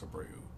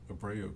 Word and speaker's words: Abreu: But Abreu, I think it's Abreu. Jose Abreu, that's how I always heard it pronounced.